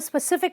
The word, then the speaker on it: specific: sp cific when you stress the sif and you say spur specific specific i have a specific requirement not specific specific okay um a lot